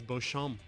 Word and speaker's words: Beauchamp: My last name is Beauchamp. Is it really? Yes. Is that how we've been mispronouncing it this whole time? No, Beecham. It's Americanized.